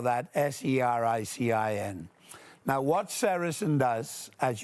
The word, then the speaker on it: sericin: One of them, a very important one, is called sericin. You spell that S-E-R-I-C-I-N.